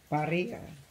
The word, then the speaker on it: birria: BiRRIA.